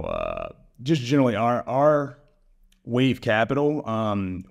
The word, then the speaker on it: Wayve: just generally our our wave Capital um we spell it w a yve and wave it's it's symbolic you